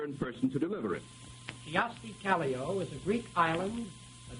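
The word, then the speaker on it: Kyösti Kallio: who is here in person to deliver it kioski caglio is a greek island a dictator of peru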